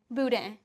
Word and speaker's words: boudin: Boudin. Spell it for me.